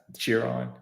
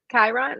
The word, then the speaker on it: Chiron: uh I guess 11th cheer on is that how you say it Kiron oh oh K yes okay sorry I feel like